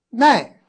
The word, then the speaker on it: 能: 所以说腹满死，耐冬不耐夏，奈，对了，这个能字又不念能了，又读成奈了，就是